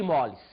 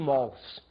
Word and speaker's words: mols: Observe, N, nós dissemos, é o número de moles. Você vai ver que, hoje em dia, os professores falam número de mols. Nós, antigos, ainda falamos número de moles. Dizem que agora a pronúncia correta seria mols.